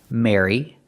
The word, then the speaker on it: Mary: Just pronounce them all the same, with the air sound, like hair and chair. Mary, Mary, and Mary.